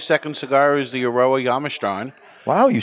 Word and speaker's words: Jamastran: But today's second cigar is the Eiroa Jamastran.